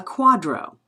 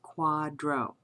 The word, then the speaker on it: QDRO: A quadro um that says QDRO that is the acronym for qualified domestic relations order. We as per as as I noted pronounced that as quadro.